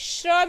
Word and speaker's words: श्र: तो देखिए इसको भी अगर हम, मैं प्रोनाउंस करूँगी श्रा, यानी कि श और र की साउंड आ रही है इसमें, तो इसकी डॉट क्या